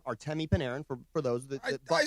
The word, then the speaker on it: Artemi Panarin: So this move, Panarin, and by the way, cheat code for all of those who are wondering how to pronounce his name, Artemi Panarin, for those that I said it.